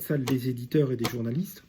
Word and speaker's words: Sales: Saint François de Sales, c'est SALES.